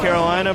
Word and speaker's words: Carolina: It is Raphael, Carolina, pronounced like the state is what I was told.